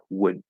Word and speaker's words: would: Okay, so if I very clearly try to pronounce that, okay, the D, whether it's contracted or not, is naturally going to be more of a stop D. Would, would, would.